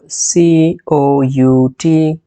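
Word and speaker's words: cout: this course then on line sequence we have c o u t which is pronounced as C out it is an object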